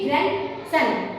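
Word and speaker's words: grandson: इस प्रकार से देखिए हम इससे बोलेंगे प ग्रैंड सन यहां पर डी साइलेंट है नेक्स्ट इस कि हम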